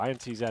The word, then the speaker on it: INTZ: the CEO and apparently intz is not the correct name to pronounce it it's int Z we should be calling